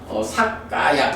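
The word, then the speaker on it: sakkāya: 근데 사뜨가 뒤에 까야랑 연결되면서 그러니까 T가 K로 바뀌어가지고 삭까야 이렇게 된 거거든요.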